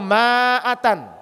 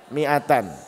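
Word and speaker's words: مائة: mengucapkan kalimat Lailahaillallah miatan yang betul miatan atau maatan miatan betul miatan Bukannya maatan tidak dibaca karena ada Alif di depannya menadi baatan Walaupun ada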